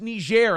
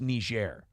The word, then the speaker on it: Niger: I'm like, oh, son, it's pronounced Niger. And I looked down at my card, and for a second, until we had continued the conversation, I was like, yeah, fucking nailed it, dude. Nice work. But, I go, buddy, that's pronounced Niger.